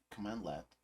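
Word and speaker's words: cmdlet: data as plain text instead when a cmdl pronounced command L is run in power shell it returns objects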